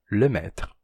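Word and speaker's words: Lemaître: que foi proposto pelo padre lemetre ou com pronúncia francesa lemetre que o universo não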